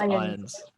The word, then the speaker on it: Irons: Irons, I'm pretty sure it's just Irons.